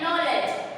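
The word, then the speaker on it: knowledge: नॉलेज, जिसमें के फिर से साइलेंट हो गया, सिर्फ हमें सुनाई देता है नॉलेज, राइट?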